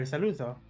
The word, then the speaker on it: Saluzzo: The Z is pronounced like pizza. So, Saluzzo. Pizza, Saluzzo. Yeah, okay. So just basically pronounce it as if it's one Z.